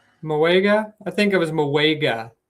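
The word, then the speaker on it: Mauigoa: And instead, they chose Francis uh Maui Maligoa or I think that's how you pronounce his name. Moega. Moega.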